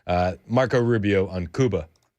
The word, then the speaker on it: Cuba: To your other point, uh on Cuba, Kuba if you will, I believe that's how they pronounce it.